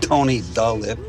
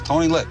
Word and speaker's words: Tony Lip: the lip for short it's not tony dolip it's tony lip ah whatever viggo i